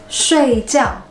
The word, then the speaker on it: 睡觉: You have to go down completely.